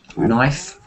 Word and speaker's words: knife: we don't we k n we must not pronounce key no like night no night uh yes yeah night knife yes yes I think that is a good